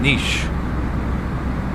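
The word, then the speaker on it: Niš: It is pronounced in Nish.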